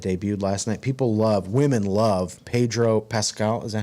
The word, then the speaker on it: Pedro Pascal: Pedro Pascal.